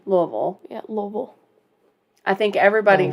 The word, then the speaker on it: Louisville: that no we say Louisville Louisville like you've got marbles in your mouth yeah if you got